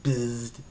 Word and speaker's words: Bzzd: And you see, at least I think this is how you're pronouncing it, Bzzd. Yes, it is how it sounds, Bzzd.